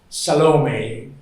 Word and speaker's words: Salome: This is the dance of salom. I guess that's the way you pronounce it, right? It's embarrassing for an Italian because it sounds like salami.